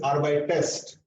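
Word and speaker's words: arbeitest: You feel that it is not possible to say that ST immediately. Arbeitst. Arbeit. So in that case, we add here extra E and then we write or by test. So the conjugation part is already there. Only what is new? Extra E. So it is R by test.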